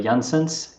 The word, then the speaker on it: Janssens: correctly it's uh janssens you said it almost perfectly you said johnson's which is pretty good thank you for your